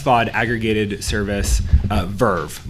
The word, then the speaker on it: VRV: s vaud aggregated service Verve which is spelled vrv so I get to